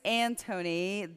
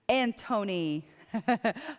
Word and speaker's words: Anthony: um my name is Antony the H is silent or if you like the H stands for honey Antony okay right in English